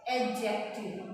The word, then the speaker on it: adjective: एडजेक्टिव, जी इसमें silent है, एडजेक्टिव। एडजेक्टिव।